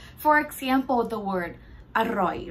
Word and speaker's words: อร่อย: For example, the word อร่อย, right? Don't say it like อร่อย, อร่อย, like this. No, it would more sound like อร่อย, อร่อย for Thai.